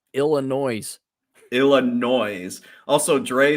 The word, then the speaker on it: Illinois: just uh nonstop Dre two bucks Chad it's pronounced Illinois illino also Dre said it's 7:21 a.m.